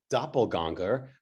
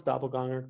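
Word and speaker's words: Doppelgänger: Did I pronounce doppelganger correctly? Pretty much. It's actually, if you we have this funny letters with the two dots, the umlauts, so it's an it's doppelganger.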